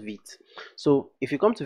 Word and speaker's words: Vite: So if you come to vitejs.dev, I like to call it Vite actually, but it's pronounced Vite.